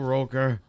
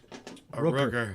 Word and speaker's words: Rooker: as exhausting as it was, Michael Roker, Rooker. Rooker. I keep saying Roker.